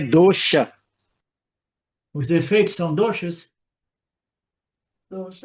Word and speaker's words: dosha: E pronuncia dosha, né? Da última aqui que eu olhei, ele está falando que dosha é chiado, né?